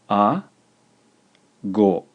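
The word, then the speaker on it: あご: It's pronounced a, go, a, go, a, go, ago, ago.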